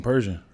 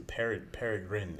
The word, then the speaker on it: peregrine: You keep saying Persian. I see peregrine is what it is.